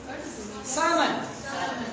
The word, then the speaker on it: salmon: Salmon. Not salmon. Salmon. L is silent.